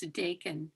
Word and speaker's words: Dakin: How is it pronounced? Thanks for asking. It's Dakin.